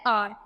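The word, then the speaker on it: hour: एन देखो जैसे एन आर तो एच ओ यू आर है तो हम इसको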